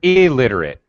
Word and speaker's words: illiterate: read neither write she's elate elate illiterate illiterate okay very good literate means someone can read illiterate extra vowel sound extra syllable means they can't read